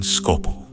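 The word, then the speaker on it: Skåbu: Several long hours later, I was in Scavu, or as the locals say in Norwegian, Scopu.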